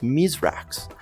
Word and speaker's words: Mithrax: one of his journeys mithrax would tell them that his name was originally pronounced mizrax and like many of the current houses who adopted new names upon coming to Seoul he adopted a human pronunciation form later on he would